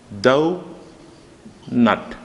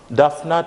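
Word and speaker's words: doughnut: It's not, it sounds like duff to you, right? Duff, but it's not that. It's the sound will be dough nut. This is the syllable for that one. Syllable for this word, actually. Donut. Donut. It's not duff nut or something like that, but it's dough nut, having two syllables, dough nut.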